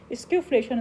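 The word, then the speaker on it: skewflation: स्क्यूफ्लेशन इसको pronounce करते हैं, स्क्यूफ्लेशन।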